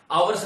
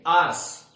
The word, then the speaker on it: hours: देखिए इसका प्रोनाउंसिएशन आप हावर्स या आवर्स नहीं करेंगे, आर्स, आर, देखिए AREOUR और ये अपना HOUR, इन तीनों का प्रोनाउंसिएशन करेंगे आ। क्या करेंगे? आर।